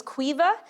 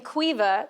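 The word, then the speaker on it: Caoimhe: Her name was Quea. And if you don't know the name Qua, that's spelled C A O I M H E.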